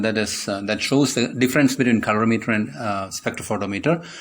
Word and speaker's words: colorimeter: This is colorimeter. Keep in mind that never pronounce the instrument name as calorimeter. It's a different instrument used to measure specific heat in physics.